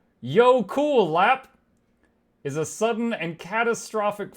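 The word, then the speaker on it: jökulhlaup: hop wait Jackle hop Jackle hop hold on I can't I don't know how to make an o with dots Define Jackle hop a Jackle hop which is pronounced Yo cool lap is a sudden and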